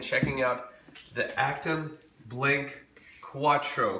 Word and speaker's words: QU4TRO: out the active blink Quatro Quatro spelled with a four we've been waiting for